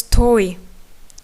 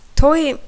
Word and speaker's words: toy: As toy, wedding. Toy in Crimean Tatar means wedding. So, but the same word there is in English, like toys for kids, but it has different meaning. But pronunciation is the same.